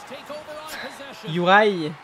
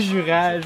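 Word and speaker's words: Juraj: Ben, eux autres, ils disent ça. Ils disent Yurai. Yurai. C'est pas vraiment ça qu'ils disent. Et moi, tu sais, je sais que ça se prononce de même pareil. Hein. C'est Yurai. Yurai, en tout cas. Mais c'est quoi ce qui est sorti de la bouche d'un francophone? Ça marche pas. Appelez-les Jurage, si on va comprendre. Là. Essayez pas de prononcer le nom comme qu'ils sont nés.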